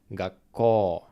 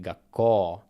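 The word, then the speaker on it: 学校: If u comes after o sound, it doesn't sound like u, it sounds just like o. For example, same word, school, gakkō, but it's actually writing gakkō, but pronouncing like gakkō, long o.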